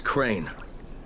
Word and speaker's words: Crane: store no my name's crane crane crane rhymes with train and brain and sun and grain and rain and plane and the other kind of plane and and can i